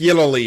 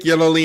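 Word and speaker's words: Yelloly: Uh, how do you say his name? Yellow, I believe. Yo, Nick Yoy, Yoy, Nick Yellowy, excuse me. It's Nick Yoly and Rener Vanderan.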